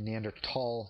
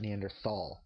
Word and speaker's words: Neanderthal: TS and it's actually neander tall not neanderthal the the word is actually German uh in German th is pronounced as we would in English as a t neander tall it means